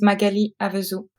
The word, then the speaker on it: Magali Avezou: would you please pronounce your name correctly for me? So my name is Magali Avezou.